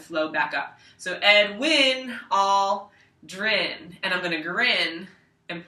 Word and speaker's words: Aldrin: back up so edwin all drin and i'm gonna grin and point to my grin like this for all drin because it rhymes with grin okay so in edwin